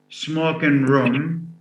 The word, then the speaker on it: smoking room: B, with stress on the first element, is غرفة التدخين.